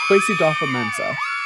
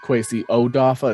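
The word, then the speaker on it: Kwesi Adofo-Mensah: as well quasi dofo quasi dolpha mensah is i believe how he pronounced it in his press conference today quesada mensah sounds like they cut off that first o so it's not quasi-odofa it sounds like it's quasi-dopha-mensah i see how the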